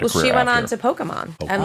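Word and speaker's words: Pokémon: just said Pokemon Pokemon E isn't long I think it's a short e I've been going with a long e this whole time is what I'm admitting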